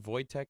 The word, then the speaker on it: Wojtek: named uh wojtek volsky is it voytek the bear but it's spelled w-o-j-t-e-k he's having a picture